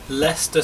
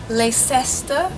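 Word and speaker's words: Leicester: é hde Park mais uma vez hde Park L Square essa também é uma outra estação de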